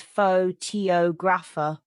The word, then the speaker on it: photographer: The stress moves to different syllables, changing the rhythm. Oh, I see. PHO to graph versus pho-to grapher.